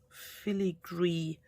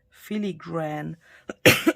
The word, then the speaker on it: filigree: whimsical and and filigree i think in the past i've always said philly gran because in german the word that i want to say is filigren and i guess i've always said it wrong you've asked me what